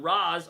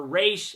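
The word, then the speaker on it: Ra's: And that's what Raz or Re as he pronounced it.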